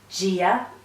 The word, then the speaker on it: Dia: Firstly, on Gia, listen to it again, Gia. It's like a J in English.